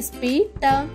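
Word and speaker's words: spit: ఎస్ పి ఐ టి ఈ పదంలో కూడా ఎస్ పి యొక్క శబ్దం స పకుండా స్ప అవుతుంది కాబట్టి ఎస్ పి ఐ టి యొక్క ఉచ్చారణ అవుతుంది స్పిట స్పిట్ స్పిట్ అంటే ఉమ్మడం తర్వాత పదం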